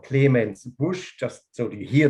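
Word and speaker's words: Clemens Busch: the mosul valley the wine estate is called clemens bush just so do you hear the word pronounced correctly for once it's this one isn't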